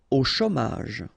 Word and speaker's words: au chômage: Au chômage. Remember, CH together, ch, chaud, chômage, au chômage.